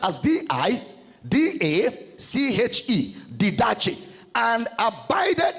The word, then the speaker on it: didache: Didache is spelled as D-I-D-A-C-H-E, didache.